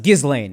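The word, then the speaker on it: Ghislaine: yeah when the second he was like it's pronounced gizlane and like he knew and then he said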